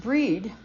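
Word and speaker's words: Brigid: of any Catholic priest bridgid pronounced breed in Gaelic is called the exalted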